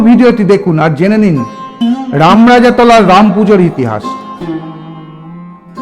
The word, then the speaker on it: রামরাজাতলা: রামপূজার বর্ণময় ইতিহাসের জেড়ে এলাকার নামই হয়েছে রামরাজাতলা। যদিও অবাঙালীরা এখনো উচ্চারণ করেন রাজা রামতলা।